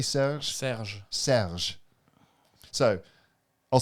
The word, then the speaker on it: Serge: Serge.